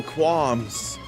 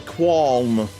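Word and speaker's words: qualm: Now I can fight the molda with no quams. Is it quam or qual? I feel like the L is not pronounced in qu u a l m.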